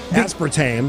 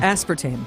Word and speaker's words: aspartame: Aspartame. Aspartame. What was the wrong way to say it? A radio colleague of mine made the mistake of calling it aspartame because she was unfamiliar with it.